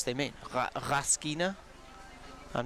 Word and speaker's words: Raskina: The Raskina surname has a stress on the first vowel. Okay, I will try and put some stress on the first vowel. I'm not sure what stress they mean. Raskina?